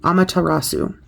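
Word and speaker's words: Amaterasu: shine bright and be seen meet the goddess pronounced a rasu amatarasu is the Japanese personification of the sun here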